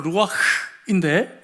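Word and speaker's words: רוּחַ: 히브리 말로 루아흐인데 여러분, 흐라고는 발음을 하면서 숨을 내쉬지 않고는 이 발음을 할 수가 없는 그러한 단어가 쓰여졌습니다.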